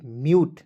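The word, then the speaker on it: mute: और एग्जांपल लेते हैं एम यू टी ई म्यूट देखिए एम का म लिख देंगे यू टी ई आया दोस्तों इसका उच्चारण यूट के रूप में करेंगे क्या हो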